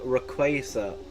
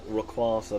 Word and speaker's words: Rayquaza: evolution itself but mega Rayquaza is stronger yeah I like pronouncing like rasa but they learned that it it it is quake in its name so it's rqu uh the goldine is